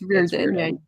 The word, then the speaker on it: Reardon: It's not rear or did or whatever. Yeah. Because it's spelled the same way as like Rick Riordan, and he's like, that's not what it is. Yeah, it's Reardon.